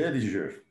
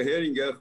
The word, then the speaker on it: Heringer: É Ehringer. É, o nome é alemão, é Heringer, mas é brasileirado, tem 200 anos no Brasil, pode ser Erinja mesmo, que lá na minha terra eu ganho voto é com isso.